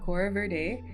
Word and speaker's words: Aquora VerDae: I I I'm learning to pronounce that. Um so it is Kora Verde and the inspiration for the name came from